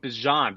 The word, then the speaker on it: Bijan: Is it Beyond or is it Bijan? Do you pronounce the J? I pronounce the J.